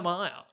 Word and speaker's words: Amaya: nobody caught it because even her boyfriend doesn't call her a maya no he calls her maya no way the a is silent that's an insane name